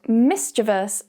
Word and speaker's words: mischievous: However, that keyword, mischievous, is quite commonly mispronounced as mischievous.